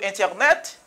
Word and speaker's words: internet: Par exemple, mais n nan, mais t ya, qui ça le fait ça, li pa prononcer t ya. Pour on ami qui l'a parlé avant, c'est l'abdou internet, li ka di ou internet, internet, internet, internet.